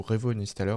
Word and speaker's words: Revo Uninstaller: Donc on va sur le site du coup Revo Uninstaller, hein, donc comme ça se prononce.